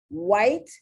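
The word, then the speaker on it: Whyte: lot a nightclub knit white which is someone's name w-h-y-t-e um the y here is imitating the uh long i sound because the y can imitate the long sound or the short sound and why could we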